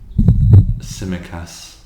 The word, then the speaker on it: Tsimikas: Now our left back is Kostas Tsimikas. I think that's how it's pronounced. Señorita. No, it's Greek. He's Greek. Why would he be Señorita? It's Greek. Sounds Spanish. No. It's like TS, but the T's silent.